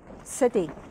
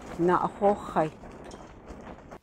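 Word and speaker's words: naaʼahóóhai: He says, you don't call it tsidi. You call it na'ahochai.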